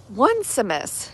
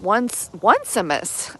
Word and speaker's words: Onesimus: And so the subject of conversation between Paul and Philemon is a man named Onesimus. I think that's how you pronounce it. It's like how it's spelled. The like one O-N-E Simus.